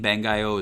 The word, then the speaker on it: Bangai-O: as you remember the the Japanese name bengio is spelled uh b-a-n-g-a-i-o-h so it's phonetic there um whereas the English